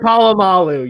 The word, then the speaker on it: Polamalu: Troy Polamalu.